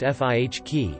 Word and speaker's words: Fiki: Fiki, pronounced Fihk in Dutch.